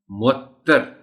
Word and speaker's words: معطر: پڑھا جانا چاہیے۔ معطر، تے پر شد اور زبر ہے، معطر۔ مسرت، بیشتر اوقات اس